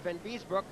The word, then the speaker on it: Van Biesbroek: Van Biesbroek, I'll say it correctly this time, as he took a chop at Ломакин.